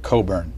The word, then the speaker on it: Cockburn: we regard them as backsliders who is Alexander Coburn he's my brother who's older uh he is